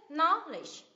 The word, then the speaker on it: knowledge: dụ không nhỉ nào Ví dụ này two syllable ns We normally stress on the first level knowledge hai âm tiết knowledge knowledge nhớm âm tiết thứ nhất ạ kiến